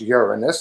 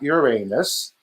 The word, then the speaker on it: Uranus: using the naked eye uranus pronounced uranus not uranus it has 27 known